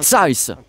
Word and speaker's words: Zeiss: sommes donc chez zai il faut me dire si ça se prononce comme ça parce que ça se trouve en plus je prononce super mal depuis le début avec un T2 enfin tu mets un size size merci Guillaume bonjour à